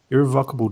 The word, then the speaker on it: irrevocable: damage too that's how you say it Zach irrevocable damage to my career after getting caught up